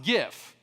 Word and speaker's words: GIF: And this word is pronounced GIF, since you can obviously see that extra crunchy G right there.